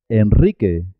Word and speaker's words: Enrique: Enrique, Enrique Iglesias. Israel, Israel. En el resto de los casos se escribe simple y suena simple.